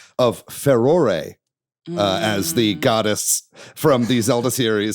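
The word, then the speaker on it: Farore: as I can tell, this is the correct pronunciation of Ferore, uh, as the goddess from the Zelda series. I've never known exactly how to pronounce her name. Uh, but Ferore, there you go.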